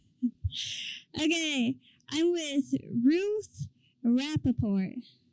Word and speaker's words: Ruth Rappaport: Okay, I'm with Ruth Rappaport. Is that right? That's how you pronounce my name, yes.